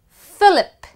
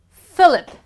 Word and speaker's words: Philip: Moving on to the next alphabet, PH becomes F. Philip. Philip. You actually would say F. Philip. Phoenix. Phoenix. And finally, Philadelphia. Philadelphia is placed in United States of America. So it's Philip, Phoenix, Philadelphia.